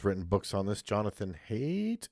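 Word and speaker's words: Haidt: has done has written books on this, Jonathan Hate. H A H A I D T. I think that's you pronounce his last name. I'm not sure. Hate.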